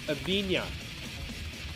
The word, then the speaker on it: Avina: So for any of you guys that don't know, his last name is pronounced Avina. So yeah, like, have So you that's guys ever like eaten Every day lasagna?